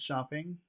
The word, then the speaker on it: shopping: So, and Yes, where is the accented syllable? She went shopping. Where's the accented syllable? just shop, Shop, shop. shop, shop. Okay.